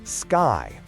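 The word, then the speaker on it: SCCY: If the plan is to get a modern gun on a tight budget, the SECY CPX2 is a major option. That's pronounced Sky.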